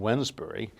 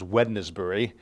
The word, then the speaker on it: Wednesbury: in a place called Wednesbury, and it's often mispronounced as Wednesbury. We don't say Wednesday.